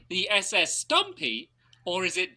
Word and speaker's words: SS Stampy: Well, I was almost about to say A, SS Stumpy, but how he pronounces it is SS Stumpy.